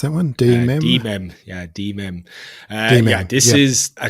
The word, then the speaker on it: De.mem: Is that how you pronounce that one? De.mem? De.mem, yeah, De.mem.